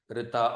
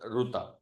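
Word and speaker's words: ऋत: Okay, Rita or Ruta, the way, whichever way you want to pronounce it, Ruta or Rita, both are correct because it's the of the Ritu, right?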